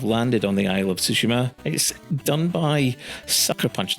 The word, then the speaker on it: Tsushima: and that's those of Tsushima and that's how you pronounce it by the way in Japanese you don't really tend to emphasize any particular syllable so it's ghost of Tsushima and it's set in